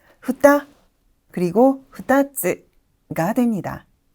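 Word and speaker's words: 二つ: 이번에는 훈독 발음인데요. 후따 그리고 후따츠가 됩니다.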